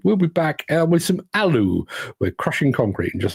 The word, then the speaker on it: ALLU: Apparently, ALLU isn't ALLU, it's ALLU.